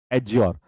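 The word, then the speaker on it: adjure: यहां पे D silent होगा। डी क्या रहेगा, साइलेंट, साइलेंट, ठीक है। डी यहां पर साइलेंट होता है, डी यहां पर होता है साइलेंट, एडज्योर।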